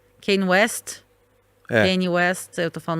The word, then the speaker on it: Kanye: Kanye West, eu tô falando o nome dele errado, desculpa, gente.